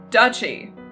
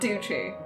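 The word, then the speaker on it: duchy: i don't think but it is um dutchy not douchey who knew not me but whether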